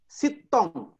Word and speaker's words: Sintong: sedang makan itu Nah ini kan tertulis Sintong di dalam bahasa Batak itu bacanya bukan Sintong sittong Nah itu evidensialitas betul